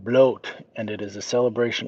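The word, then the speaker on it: Blót: It is pronounced bloat and it is a celebration of the gods and goddesses.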